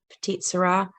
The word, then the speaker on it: Petite Sirah: on that this close here you can see it's spelled s-i-r-a-h petite syrah so this is actually the common spelling of